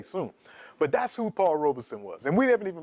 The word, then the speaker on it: Robeson: slip a couple times the actual pronunciation of his name is Robeson Robeson like robe son but when it comes